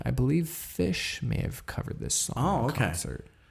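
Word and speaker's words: Phish: Although I believe correct me if I'm wrong, I believe Fish may have covered this song in okay. concert. I know that there was a band, I want to say Fish, spelled with a P, P-H.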